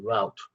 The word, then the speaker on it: route: And British people say route, Americans say route.